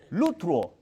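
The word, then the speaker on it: λυτρόω: Eh se usan términos como lutro. Lutro. L U T R O con acento en la última o.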